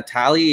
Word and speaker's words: Talie: Annette is it uh tally is that how you pronounce Italy Okay cool so the emphasis is on the second syllable gotcha here with Annette Talley let's continue step number